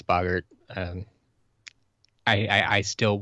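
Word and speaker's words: Boggart: us a a good explanation of why it's Boger and not Bogart okay um and yes I will agree you're correct I all that English pronunciation stuff has never been my forte at all um and I can agree with you yes it's bogert um I I I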